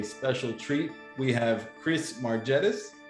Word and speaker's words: Margetis: We have Chris Margetis. Did I pronounce that right? Margetis, that's exactly correct.